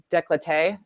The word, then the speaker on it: décolleté: So yeah, especially around the décolleté.